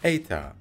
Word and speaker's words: eta: alphabet is boring okay eta in ancient times was actually pronounced like an age but nowadays it is an e sound i mean who came